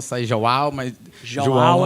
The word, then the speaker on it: João: comentei ontem, o americano não consegue fazer a pronúncia João, então eu tive que fazer essa adaptação para John. Estou vendo que ela está rindo ali, mas não sai mesmo, viu? Sai tudo, sai Jao, sai João, mas João é o que mais sai.